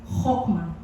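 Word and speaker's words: חכמה: It has been personified as a woman because in Hebrew in Hebrew the word wisdom is uh chokma. Chokma in sa sa place nila they uh they they pronounce it as hokma.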